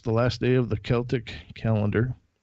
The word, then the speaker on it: Celtic: Halloween is on October 31st, the last day of the Celtic calendar. I did say Celtic, not Celtic. Correct pronunciation is Celtic.